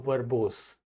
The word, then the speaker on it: verbose: अगला शब्द आता है हमारा बच्चों वर्बोस। वर्बोस, वर्बोस क्या बोलेंगे इसको, वर्बोस। देखिए ध्यान से पढ़िए प्रोनाउंसिएशन, वर्बोस क्या लिखा हुआ है, वर्बोस। वर्बोस, रा नहीं बोलना है आपको, वर्बोस नहीं कहोगे, है ना।